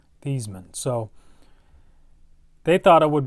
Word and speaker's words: Theismann: his name so actually joe theismann's how you pronounce it is thiesman thiesman so they thought it